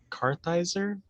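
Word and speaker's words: Kartheiser: titans season 3 casts vincent carthizer that's how you say it as jonathan crane so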